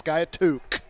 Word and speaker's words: Skiatook: I'm like how do you say he says skyatook oh what's this guy took I do too